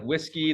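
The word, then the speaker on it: WSGI: whiskey so this is this wgsi is pronounced like whiskey the web server Gateway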